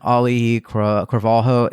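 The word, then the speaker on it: Auli'i Cravalho: and it does bring back Dwayne Johnson and Oli Calo that's I know I just totally butchered that name do you know how to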